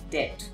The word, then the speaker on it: debt: not debt it is dead and as you can see the letter b becomes silent here right one more commonly